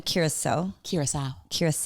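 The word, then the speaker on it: Curaçao: Back to soccer, because there's one other team and you pronounce it... it's Curacao.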